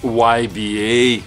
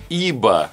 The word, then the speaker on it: YBA: Да, и как правильно произносить, кстати говоря, название, многие пытались говорить YBA. Какой YBA? Это не английская фирма, ребята, это французская. И основателя ее зовут Ив Бернар Андре. Так что ИБА на самом деле. ИБА.